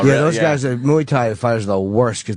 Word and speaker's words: Muay Thai: Do you have because you're a Muay Thai kicker, right?